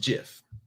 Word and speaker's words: GIF: the man the way the man said it's pronounced gif yeah well right we we'll go with that